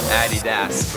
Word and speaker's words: Adidas: name came in as Addy Das so when we were there we kind of figured okay so the correct way to say it is Addy ass according to Michael the